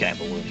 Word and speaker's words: abalone: I think abalone is how you pronounce that.